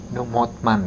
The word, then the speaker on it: Motman: juga kurang tahu v-nya itu artinya adalah Van motman ya motman bukan Hotman kalau Hotman Hotman Paris ini motman Van motman jadi keluarga PR Van mman gitu